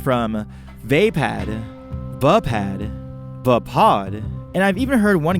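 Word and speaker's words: Vaapad: For me, it flows better to say pod instead of pad. So that's what I go with, but it could very well be wrong. But as it stands, I pronounce it as vapod.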